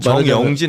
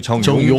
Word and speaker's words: 정용진: 주 정영진 아니고 정용진. 정용진 발음 좀 제발 좀 조심 좀 회장 되니까 하시라고.